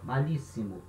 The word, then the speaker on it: malísimo: A diferença é que em espanhol vai ter um S só. A gente não tem dois S no espanhol, é um S só. Malíssimo. Mas a pronúncia é a mesma, íssimo. Ele continua.